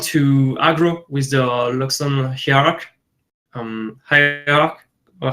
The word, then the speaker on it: Hierarch: So now what's interesting is that if Julien starts to want to aggro with the Luxon Hierarch, or how do you say that? Hierarch.